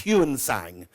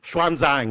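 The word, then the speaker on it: Xuanzang: if you can remember as hansang as he used to be transliterated but swanang is the proper Chinese pronunciation here he is with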